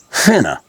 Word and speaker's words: finna: It's called finna.